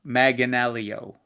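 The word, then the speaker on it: Manganiello: Chuck Yeah, Joe Maganelio. Yeah, that's how you pronounce it.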